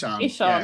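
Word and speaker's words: Ihsahn: But actually, I can never pronounce his name, and this is when it gets really embarrassing. The guy from Emperor, Ishan.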